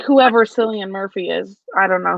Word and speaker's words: Cillian: But I also have unhealthy obsessions with things, so Like whoever Cillian Murphy is, I don't know who that is. But I'm happy for you. The C is pronounced like a K.